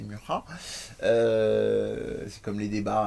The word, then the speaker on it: Mucha: cet artiste-là, Alphonse Mucha, qu'en général on prononce plutôt Mucha chez nous, mais c'est Mucha.